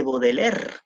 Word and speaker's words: Baudelaire: o los poemas de baudelaire no charles baudelaire bau del aire se escribe por si acaso pau del aire como grande charles bau del aire del aire motors baudelaire el patriarca de